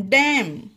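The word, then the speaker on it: dam: हैं डी ए एम डैम यह डैम क्यों हुआ यह रूल क्या था कि दो कॉन्सोनेंट के बीच में जब ए आता हो तो ए का उच्चारण ए पढ़ा जाता है यह हमारा नियम था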